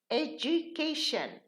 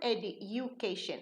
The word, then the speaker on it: education: So, when we have a U, the D changes into ja. Did you? Would you? Education. It's not education, it's education.